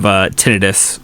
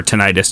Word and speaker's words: tinnitus: of the community, because I have tinnitus or tinnitus, depending on how you want to pronounce it.